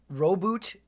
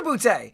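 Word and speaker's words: Roboute: One, the Ultramarines are not as Actual pronunciation, Reboot Guilliman. Okay. Oh no, Robute. It is Robute.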